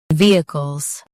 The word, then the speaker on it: vehicles: Stress V and keep cos quick. V, Cos. Vehicles.